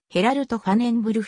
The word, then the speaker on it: Gerald Vanenburg: は mf df オランダ現地での発音はヘラルトファネンブルグ付アヤックスの下部組織